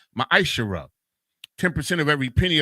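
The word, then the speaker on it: מעשר: 10 means tense in the Hebrew and it's pronounced maishara ten percent of every penny of any increase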